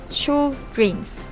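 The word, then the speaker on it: Sjögren's: let's look at what sjogren's syndrome is sjogren's syndrome is pronounced as show grains it is an autoimmune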